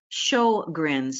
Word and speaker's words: Sjögren's: one pronounce that well in English we seem to pronounce it as show grins in other words you're showing some Smiles my apologies to any